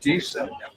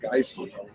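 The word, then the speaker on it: Gießen: can always watch for, we pronounce, there's two vowels together, we pronounce the first vowel. The Germans pronounce the second vowel. So I lived in Giessen, which is Giesse, and the new Americans would come over and they call it Geissen.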